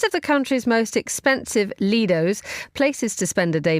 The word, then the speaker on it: lido: my adopted home there, because in Italy we would say Lido. I know the Brits say Lido, but I think blood is thicker than water. We're going to go Lido.